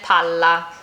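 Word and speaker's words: palla: which I showed earlier the single l pala and pala. Do you see how I'm holding the double a little bit longer? That's really essential here. Listen again. Pala shovel pala ball. Native speakers notice this immediately even if your accent is really good because they are two totally separate words.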